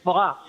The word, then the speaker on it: Voss: I've ever had is Voss. And I think it's from Switzerland. Really? As in Victory, OSS.